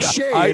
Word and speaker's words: Chez: He spelled like Shay in French.